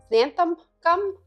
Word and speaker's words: xanthan gum: You can use xanthan gum, that's how you say it, or you could use like a gluten-free flour.